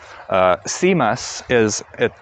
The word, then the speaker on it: CMUS: CMUS, that's spelled C-M-U-S, is a command line interface music player, and that runs perfectly on this.